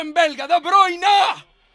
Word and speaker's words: De Bruyne: Tiene que aparecer Haaland, tiene que aparecer De Bruyne.